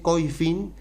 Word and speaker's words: Koyfin: de Twitter de Coifin, que se escribe Koyfin latina N, Coifin, si van a Twitter